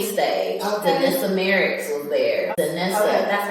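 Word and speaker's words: Danessa: on the main stage denessa Merck was there denessa that's how you say her name yes and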